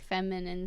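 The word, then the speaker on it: FEMI9: And it's feminine, but like it's pronounced feminine, but it's spelled F-E-M-I 9.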